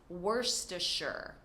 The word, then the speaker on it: Worcestershire: The correct pronunciation is Worcestershire.